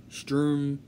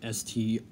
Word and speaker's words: Strom: President pro tempore is Strom Thurmond, who is a Republican. Remember, it's spelled S-T-R-O-M, not S-T-O-R-M. It's not Storm, okay?